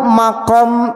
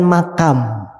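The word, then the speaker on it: مقام: Ada makom Ibrahim. Makom itu bukan makam. Makom secara bahasa Arab tempat pijakan. Jadi jangan dibacanya makam. Kalau makam kuburan.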